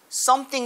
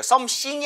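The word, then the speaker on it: something: 자 무언가를 물어봐도 되냐 근데 발음할 때 보셔도 되요 쌈 땡 자 보셨죠 지금 두번째 할 때 쌩으로 가능 썸씽이 아니라 윗니와 아랫니 4 의 혀를 살짝 걸치 듯이 5개 썸씽 보다는 차라리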